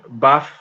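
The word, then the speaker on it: BAF: colombia or in spanish we'll say buff like pronounce it like that b-a-f uh not sure how it sounds in english um but yeah every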